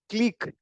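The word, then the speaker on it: clique: देखते हैं क्लिक, इसका सही प्रोनाउंसिएशन क्या होता है? क्लीक।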